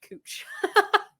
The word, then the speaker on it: Couch: And then I remembered that there's a street in Portland spelled like your last name, but pronounced Cooch.